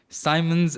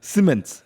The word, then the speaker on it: Siemens: and it did not sound right. Yeah. And I did it the first time. But it's Siemens. Simmons, okay, and NVIDIA, partner on the industrial metaverse.